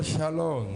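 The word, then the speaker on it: שלום: mujer en actitud de alabanza más se pronuncia en el hebreo shalom y es una palabra hebrea que significa pasco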